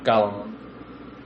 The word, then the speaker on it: Gollum: Yeah, Gollum.